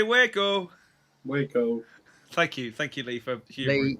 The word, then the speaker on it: Waco: I believe that's pronounced Waco. And all I ever want to do is go, boom, boom, boom. Let me hear you say Waco. Waco.